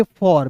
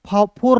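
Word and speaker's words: for: फोर नहीं पढ़िएगा, क्या पढ़ेंगे? फॉर।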